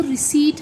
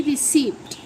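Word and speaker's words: receipt: जबकि इसका सही जो इसकी प्रोनाउंसिएशन है वो रिसीट है, ना कि रिसिप्ट।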